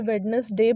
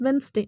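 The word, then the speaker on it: Wednesday: spelling वही होता है बट जो उसका करेक्ट प्रनंसीएशन है ना वो होता है डेंसिटी इट्स वीं स्टे और वीं स्टे को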